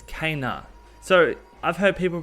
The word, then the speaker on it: Kena: How do you pronounce her name? It's Kenna. So I've heard people pronounce it Kina, Kenna, now Kenna.